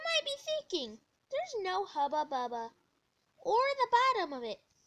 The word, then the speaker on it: Hubba Bubba: Have you ever wanted to buy some Hubba Bubba? It's pronounced Hubba Bubba, but I have a very squeaky voice, okay?